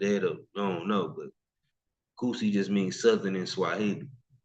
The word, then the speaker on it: Kusi: Just because you see how it's spelled don't mean it's got anything to do with no Kush or anything like that. It's Kusi. It's actually is a Swahili term.